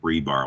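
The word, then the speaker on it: RBAR: a little information here it is pronounced rebar like the um steel rods hopelessly stuck in cement forever and i also help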